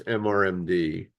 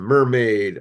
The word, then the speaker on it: MRMD: I call these talks mrmd um I like to pronounce them mermaid I guess it could also be Mr MD um I started these